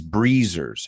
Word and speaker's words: breezer: So let's talk about the pronunciation of breezer because that Z is complicated for us.